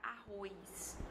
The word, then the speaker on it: arroz: Outro exemplo é a palavra arroz. Tem pessoas que pronunciam arroz, mas você também pode pronunciar arroz, tá? Então, quando esse I é inserido, ele se junta com O e faz um oi, faz um ditongo.